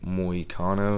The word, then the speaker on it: Moicano: So, the perfect example of that I can think of is, even though he finished them, was Brian Ortega versus Renato Moicano, if I'm saying it right.